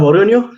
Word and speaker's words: Borgogno: Bueno, mi nombre es Borgoño, sí, Jaime, lo pronunciaste bien.